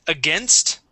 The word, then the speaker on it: against: um with against okay make sure to pronounce that St at the end okay you uh you were flowing nicely through that sentence um but yeah skipped right uh right over that t um the the St here and we need that or else it'll sound like again M okay so um